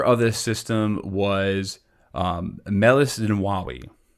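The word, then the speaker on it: Meles Zenawi: this system was um melissa nawawi or pronounced melissa and wawi and he was uh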